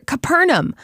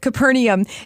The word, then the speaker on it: Capernaum: fishing Village several times sometimes you hear Capernaum other times Capernaum I actually like the one with the fourth syllable so we're gonna go with Capernaum Jesus did many miracles